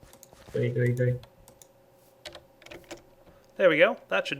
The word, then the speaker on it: GUI: And yes, it's pronounced GUI. Hey, Soren. Come to chill? Bees sting. No, but if you get close to the ones inside the fence, they do. Gooey. Gooey.